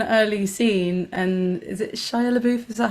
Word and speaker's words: Shia LaBeouf: And it was like in quite an early scene, and is it Shia LaBeouf? Is that how you pronounce his name?